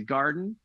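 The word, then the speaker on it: Gardyn: food with this indoor garden it's got everything from fruits and vegetables to herbs and flowering plants it's called garden but it's spelled g-a-r-d-y-n and they send you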